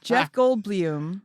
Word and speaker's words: Goldblum: Jeff Goldblum is how that's actually how his family says It's it.